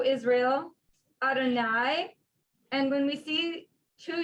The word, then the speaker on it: Adonai: units together that word although it doesn't read adonai phonetically that is how we pronounce the word is everyone familiar with